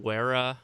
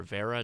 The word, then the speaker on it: Wera: This is a Wera or Vera, depending on how you pronounce it, Tool Check Plus.